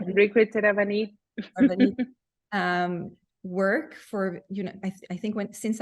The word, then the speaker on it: Rirkrit Tiravanija: You have to pronounce the last name. Yeah, that's right. Rirkrit Tiravanija.